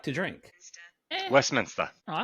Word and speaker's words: Westminster: How would you pronounce Yeah, cuz wasn't the Westminster where like No, it's not West Minister. It's Westminster.